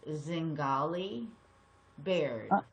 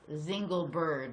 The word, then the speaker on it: Zingali Baird: My last name is pronounced Zingali Baird. Apologize for the That's okay. I usually get things like Zingle Bird, like I'm some exotic Zingle bird that flies through the air.